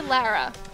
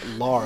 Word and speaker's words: Lara: her Laura is that an American thing I guess it is I guess it is an American to say Lara it's La Laura Laura Laura Laura we just want to make sure to say it right people oh my God